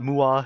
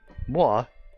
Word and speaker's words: mwah: It's not mua. It's not moa. It's not mow. It's not meow. Okay. Mwah. It's pronounced kind of like a kiss.